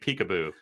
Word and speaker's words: PCAOB: before anyone falls asleep maybe we should start calling it peekaboo because that gets people's attention just right there that's why that's how you pronounce that acronym in uh inside the